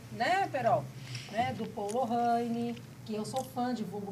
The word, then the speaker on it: Lorraine: É Lorraine. A pronúncia é Lorraine.